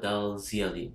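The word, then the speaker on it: dalzielii: The second best would probably be Royal Green Hojari or Boswellia Dal Ziely. That's how you pronounce it.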